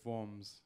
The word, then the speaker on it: Worms: and it was in a place called forms which is spelt worms so i was in